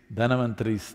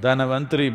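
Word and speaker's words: Dhanvantari: the pavali it is dhanavanthari's tryodashi not indian people must connect you know don't go on clipping away one one syllable and come dhanavantri becomes done becomes terror don't keep clipping it away so uh here we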